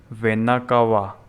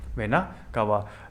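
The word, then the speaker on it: vena cava: Superior and inferior वेना कावा। आगे पढ़ोगे इसके बारे में, वेना कावा। स्पेलिंग में वापस एक बार लिख देता हूँ, VENA, वेना, CAVA, वेना कावा।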